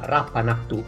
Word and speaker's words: Rappan Athuk: kickstarter in questo momento per tradurre il dungeon rapanà to xvi pronuncia correttamente così ciao a tutti si pronuncia